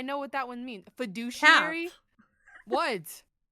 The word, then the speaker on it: fiduciary: a r y yeah what in there would say the word douche it's like the fiduciary why does it why